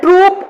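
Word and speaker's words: troupe: okay, next one इज अ ट्रूप of artist, ये ई silent रहेगा बस में, अ ट्रूप ऑफ आर्टिस्ट, जो आर्टिस्ट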